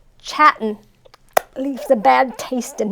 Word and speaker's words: Chattin': So You got to pronounce the G on the end, right? Yeah, there is no G. It's Chattin. So Chattin.